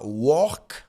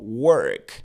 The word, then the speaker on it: work: On ne dit pas work mais plutôt work.